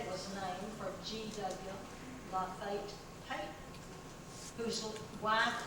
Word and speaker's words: Lafayette: It was quite unusual that 2 fellows by the name of, and by the way, it's spelled Lafayette. We say Lafayette today, but in those days it was pronounced Lafayette.